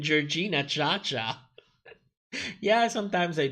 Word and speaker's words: Jorgina: Nicholas, who's Georges? You're mispronouncing Jorgina Cha Cha.